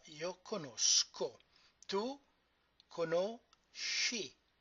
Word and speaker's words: conosci: Tu conosci, because the syllable SCE is she.